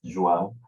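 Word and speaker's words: João: yourself yeah thank you my name is joao it's pronounced joan but you can call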